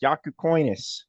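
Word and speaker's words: Jakučionis: attempt to pronounce hisus I know how to say it now it's yaku coinus yaku coinus both of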